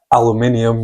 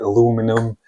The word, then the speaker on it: aluminium: for steel and uh aluminium or they I think the Americans pronounce it aluminum.